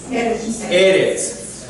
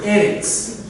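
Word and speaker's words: ארץ: Eretz. Eretz. Melech. King. Melech. So the emphasis, when you have the double short E, the emphasis will go on the first, almost always will go on the first syllable.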